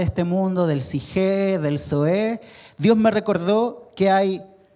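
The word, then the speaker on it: ζωή: Y la segunda se pronuncia zoe.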